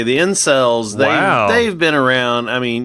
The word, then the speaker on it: incel: Yeah, incel. Yep. It's not uncel. It's incel.